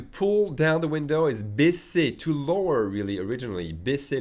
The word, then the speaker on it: baisser: Baiser is the verb, let's say, to screw, okay? So make sure you pronounce the double S with an S sound, solid S sound. Baisser, not baiser. Very different.